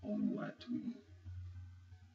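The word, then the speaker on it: Oluwatoyin: It's spelled O-L-U-W-A-T-O-Y-I-N. Oluwatuyin.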